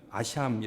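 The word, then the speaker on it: אשם: 읽은 히브리어 속 언제 히브리어는 아시아 미 라고 발음합니다 아시아 그 원래의 뜻은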